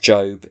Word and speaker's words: Job: Oswald Chambers wrote a book on the book of Job, spelt Job, pronounced Job, in the Old Testament, which is all about this question.